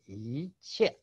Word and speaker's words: 一切: Okay, it's pronounced in the first tone, in the fourth tone. Okay, 一切 meaning all things and everything.